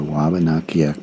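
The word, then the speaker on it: Wabanaki: been inhabited by the Waba nakak people of the Dawn land European colonist mispronounced their name as abanaki likewise the indigenous name for their home was mispronounced as miss isoy the native people named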